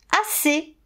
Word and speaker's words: assez: Assez. Eh oui, le « et » à la fin du mot, il s'écrit EZ, et pourtant on dit et.